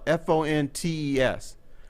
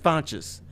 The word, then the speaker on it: Fontes: educate you on something three brothers all their last names are spelled f-o-n-t-e-s they all pronounce their last names different differently it's a true story it was it's a true story fontes and fontis how does that happen it's true that'd be